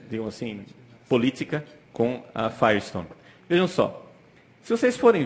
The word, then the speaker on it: Firestone: Sulamita Sulamita em português Firestone Firestone como o pneu Firestone né Eh Na verdade